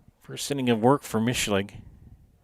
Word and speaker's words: Michlig: First sitting of work for Michlig. Is that how you say it, Michlig or Micklig? Micklig. Micklig, okay.